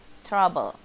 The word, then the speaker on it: trouble: Bukannya double, tapi double. Bukannya trouble, tapinya trouble.